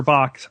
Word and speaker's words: Bach: man named Edwin be in in England we pronounce it Bach Edwin be in England uh left his practice